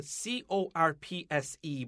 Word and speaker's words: corpse: to say this anthony when you said the c-o-r-p-s-e bride did you catch yourself what you said uh-huh corpse but but what did